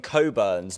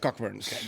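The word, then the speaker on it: Cockburn's: Uh if I'm not mistaken the one of the old slogans of Coburns like in the 1960s or 70s just used be like pronounce responsibly because people were mispronouncing the names. Uh but yeah it's it's Coburns not cockburns.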